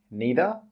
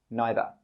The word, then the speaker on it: neither: This word can be pronounced in two different ways. We can say 'neither' or 'neither'.